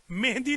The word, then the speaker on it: مہدی: आजम कह ले इमाम महदी कह ले मेहदी नहीं कहना महदी है मेहदी नहीं है जो ईरानी कहते हैं मेहंदी नहीं है जो औरतें कहती हैं मेहदी नहीं है जो हिंदुस्तानी कहते हैं महदी है बस आज